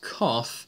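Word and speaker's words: coth: last one which is hyperbolic COTS pronounced coffe that's one over tan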